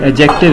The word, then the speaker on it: adjective: एडजेक्टिव को इसमें D silent होता है, डी नहीं पढ़ते, एडजेक्टिव इसको पढ़ा जाता है।